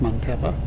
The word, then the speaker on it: Muntapa: I think it's pronounced montappa.